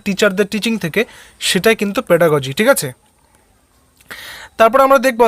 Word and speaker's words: pedagogy: অর্থাৎ বিজ্ঞানসম্মতভাবে শিক্ষণের যে পদ্ধতি তাকেই কিন্তু বলা হয় পেডাগগি। অর্থাৎ যে পেডাগজি, অ্যাকচুয়ালি এটা উচ্চারণটা হচ্ছে পেডাগজি হয়, হ্যাঁ। তো বিভিন্ন জায়গাতে পেডাগগি রয়েছে, কিন্তু এটার সঠিক প্রোনাউন্সিয়েশন পেডাগজি হয়।